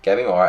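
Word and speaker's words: Gabimaru: Gabi Mora, I think that's his name. Gabi Mora, I think.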